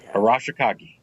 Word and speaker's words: Arashikage: Arashikage. I mean, I don't pronounce things.